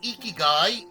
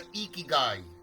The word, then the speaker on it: Ikigai: Pronounced as Ikigai is a Japanese concept meaning reason for being.